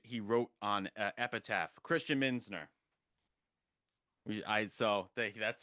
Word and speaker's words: Muenzner: It's pronounced Minsner and I my grandfather told me it mean it like the German name means uh mentor of coins.